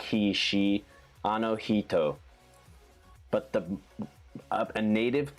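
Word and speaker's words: あの人: he like he she anohito but the a native pronunciation the instead of like he it's actually very close to she like it's a mix it's like in between heat and she and it only happens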